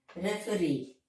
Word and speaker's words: referee: So, the last syllable is stressed. Career, volunteer. Pioneer, referee, refugee, and word ending with ee, mountaineer.